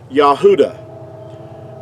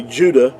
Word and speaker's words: Yahudah: you this is like the pronunciation of the word Yahudah. Now that's the way that you would pronounce it. Now in our English we say Judah, which is totally inaccurate because there's no J sound in ancient Hebrew.